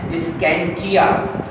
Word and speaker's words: scientia: ये एक Latin word से आया है और ये लैटिन वर्ड की प्रोनाउंसिएशन है स्कैंचिया।